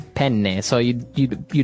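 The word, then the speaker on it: penne: it would be pen pen. So you you you double pronounce the consonant.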